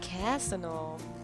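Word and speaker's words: Cazaunoux: Ah, Casino wird das ausgesprochen.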